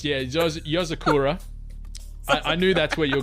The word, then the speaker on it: Yozakura: Yuzakura. I'm gonna give that to you. It's Yozakura.